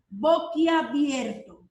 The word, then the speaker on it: boquiabierto: a decir está abierto otras veces lo pronuncian de esa manera pero lo correcto es boquiabierto aquí abierto y si